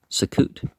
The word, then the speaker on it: Succoth: It is still called by its ancient name, pronounced by the Arabs Sukkot, and is believed to